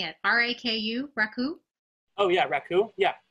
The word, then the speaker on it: raku: sure thing yes rap who i may be mispronouncing it r-a-k-u raku oh yeah raku yeah yeah is that